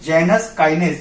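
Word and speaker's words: Janus kinase: जिसका नाम है जैक, यानी कि जेनस काइनेज, या फिर कोई जेनुस काइनेज भी बोलता है, अपने अपने प्रोनाउंसिएशन अलग अलग है।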